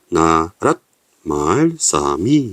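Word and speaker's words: 나랏말ᄊᆞ미: 거성이 되는 것이죠 그러서 읽으면 어떻게 되면 나란 말이라고 읽는게 아니라 나라 말사미 이렇게 읽었던 거죠 그래서 나중에 성조가 사라지게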